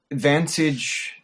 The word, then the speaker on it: Wantage: Well, Vantage USA. Okay. Spelled with a W, or Wantage. So it looks like Wantage, yeah.